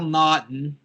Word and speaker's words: Naughton: The 116 matchup, the 16 seed Cal Naughton. Is that how you pronounce his last name?